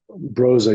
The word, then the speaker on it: Brose: So moving forward, at I don't know if I'm going to pronounce this correctly. I'm going to try my best. At Brose Bamberg, Broza, yeah, Broza, yep.